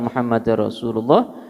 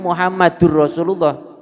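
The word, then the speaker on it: مُحَمَّدًا رَسُولُ اللهِ: ilaha illallah, asyhadu anna muhammadar rasulullah, asyhadu anna muhammadar rasulullah ya. Dannya fathatain ya, bukan muhammadur rasulullah, karena anna itu lafaz taukid yang menasabkan isim ya, memfathahkan isim.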